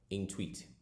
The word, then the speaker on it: Intuit: Now, this website is called Intweet.